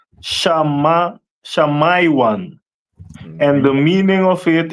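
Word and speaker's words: שמעון: And Simeon is pronounced in the Hebrew as Shamaiwan.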